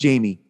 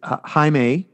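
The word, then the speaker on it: Jaime: Beetle Jamie Reyes book one but it's not pronounced Jamie it's Hae really I looked it up I definitely read it as Jamie the entire time that makes sense though because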